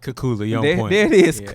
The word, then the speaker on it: Keculah: are you I don't know first and foremost yaponets your last name right did I did I say it right if not please get that on on on wax for me you got it kakuzu cool I like that man so so let's